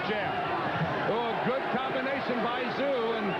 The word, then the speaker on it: Tszyu: Proud chant of Tszyu with his transplanted hometown favorite. Don't be confused by the spelling, the T-S-Z-Y-U. It is pronounced just like Z-O-O. This is local zoo, Tszyu.